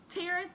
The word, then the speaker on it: Taryn: Taryn, like Karen, but it's with a T.